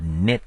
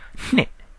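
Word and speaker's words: နှစ်: It's not knit like knitting a sweater. It's hne with a nasal sound. That's why I spell it with an HN rather than an N.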